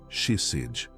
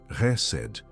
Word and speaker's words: chesed: A palavra é chesed. Pronuncia comigo em voz baixa, resed, com a garganta arranhando um pouco no começo.